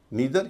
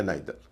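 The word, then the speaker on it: neither: आइदर ऐसा ही है नीदर या नाइदर इसमें भी दोनों उच्चारण चलते हैं।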